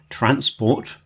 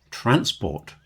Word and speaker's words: transport: And of course, transport, if I change the emphasis transport and put the stress on the first syllable, I can make a noun, transport. But, transport is a verb.